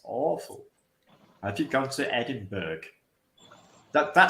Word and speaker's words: Edinburgh: awful thing you're irritating the Americans say Eddie Burke I want to rip their heads off I hate it it's awful have you gone to Edinburgh that that sounds like